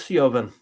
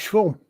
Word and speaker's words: Siobhan: I always thought it was Siobhan. It's Schwarm.